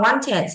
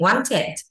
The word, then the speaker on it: wanted: Paul wanted, ED này đọc là it wanted to go to the zoo, đi tới sở thú with his mom, cùng với mẹ.